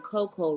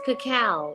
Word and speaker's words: cacao: I was saying that I was pronouncing Coco wrong it really is Cacao it's cacao c-a-c-a-o cacao cacao am I saying